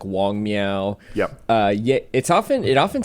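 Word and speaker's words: Wang Miao: Wenxie, and then also in the audiobook it's pronounced Wong. I'm not sure. Wong Miao. Wong Miao. Okay. Yeah. So I'm going to trust the audiobook pronunciations, even though they're a little bit, they don't quite correspond to the spelling, but I think the romanization of Chinese is just wonky.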